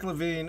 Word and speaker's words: LaVine: Zack LaVine LaVine LaVine how do you pronounce that it's Zack LaVine he needs to go